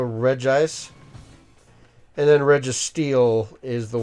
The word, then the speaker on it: Regigigas: Like, a lot of people say Regigigas. There's technically only one I in there, so Regigigas.